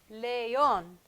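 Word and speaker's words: león: get their own syllable for lion leon two syllables leon the weak vows which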